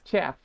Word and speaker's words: chf: And you pronounce it as chaff because you have to separate the wheat from the chaff.